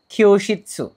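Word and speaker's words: きょうしつ: এখানে যে ভোকাবুলারিটা আছে শুরুতে সেটা হচ্ছে খিয়োশিৎসু, দেখতে পাচ্ছেন খিয়োশিৎসু, এটা যুক্তবর্ণের খিও আর উশিৎসু, আমরা দুই ভাগে এটাকে ভাগ করে প্রোনাউন্সিয়েশন করার চেষ্টা করব।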